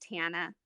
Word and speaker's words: Tana: it's just Tana. It's Oh, super easy. Tana. Okay, I'm Yeah, sorry. and then no harm, no foul. Like a lot of people mispronounce my name because it's a unique name. But yeah, it's just like Montana without the Mon.